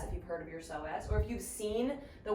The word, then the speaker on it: psoas: you've heard of your soaz or have you seen the word so as spelled it has a silent p in front of it so it's PS o a s yeah it's got a